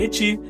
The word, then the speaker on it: ecchi: bem aceita de que eti vem da forma como japonês pronunciam a letra H, que por sua vez está ligada à palavra hentai.